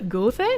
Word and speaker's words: Goethe: It's pronounced Goethe, like the I in girl.